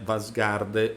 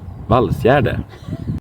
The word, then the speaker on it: Valsgärde: Il sito in questione si scrive, noi in Italia di solito lo pronunciamo qualcosa come Vasgarde oppure Vasgede, ma in realtà il buon Jonas ci dice che si pronuncia Ok, Valsgärde.